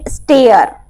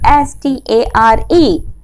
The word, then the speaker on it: stare: The second is S-T-A-R-E. S-T-A-I-R means step. We can use step to go terrace. That is called stare. And this is noun. But the second is S-T-A-R-E. So don't pronounce it star.